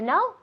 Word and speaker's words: know: Igual que no. No quiero. No. To know, no. La pronunciación es igual, aunque tiene una K.